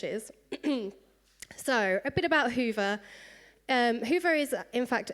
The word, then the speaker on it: Hyvä: a Magento front end even if it does get pronounced in many different ways we don't really care how you pronounce it um I know that hea is quite a popular pronunciation in Italy um as long as the meaning Rings through then we don't mind how you pronounce it you can pronounce it however you like um as long as you